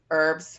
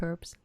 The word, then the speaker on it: herbs: to go herbs herbs herbs I swear it's herbs it's English we say herbs we don't pronounce the h and I know in